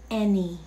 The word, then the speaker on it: any: Anong pag-pronounce dito sa three-letter word na to? It's any.